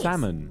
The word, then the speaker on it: salmon: place at is nice salmon salmon it is salmon salmon salmon yeah salmon salmon salmon and salad salmon and salad you don't pronoun the L in Salmon is silent you I'm so glad